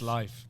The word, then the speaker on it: Leif: we were literally discussing this the other day because it's actually pronounced Pronounced life.